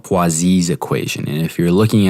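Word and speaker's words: Poiseuille: within the body and this equation is called poises equation and if you're looking at this and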